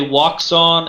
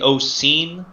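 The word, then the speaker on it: Wouxun: predates belfang and uh americans say wakson it's actually ocean it's it's another chinese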